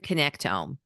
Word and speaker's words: connectome: Is that how you pronounce it? The brand connectome.